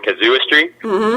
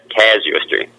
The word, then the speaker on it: Casuistry: called uh all right A lot of people pronounce it uh Kazo like a kazoo and uh I figured out that's the wrong way so I think it's uh C casuistry see you could barely